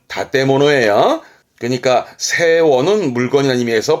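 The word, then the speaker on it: 建物: 한국어 건물이다 보니까 캔부츠 하기 쉽습니다만 발음은 다테모노예요.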